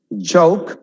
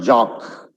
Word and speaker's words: joke: Joke, it's not jock.